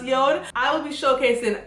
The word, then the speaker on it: Jord: come to me the comment section it is pronounced Yoda I will be showcased in my yard watch